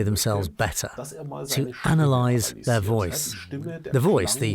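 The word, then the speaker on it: Wooyce: personality to the essence this app is called voice which is spelled w-o-o-y-c-e if you'd like to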